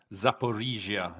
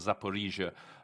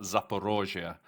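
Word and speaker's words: Zaporizhzhia: take note of that that's how the Ukraine that's Ukrainian pronunciation so when I'm going to be speaking for Ecuador I'll probably I I want to try and make sure I call it zapia Russians call it zapor roia I'm more used to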